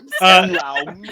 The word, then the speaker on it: Enlaun: Enlaun. There is a missing diacritic over the U Yeah. that makes it more obvious that un is its own syllable. It's not just in lawn.